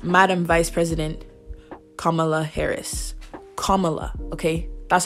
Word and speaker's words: Kamala: biden and vice madam vice president kamala harris kamala okay that's how you say her name if you didn't know okay because that mispronunciation not acceptable i know what it feels